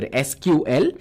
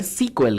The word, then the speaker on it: SQL: And if you're wondering how SQL is pronounced, it is pronounced as either SQL or it's called SQL, guys.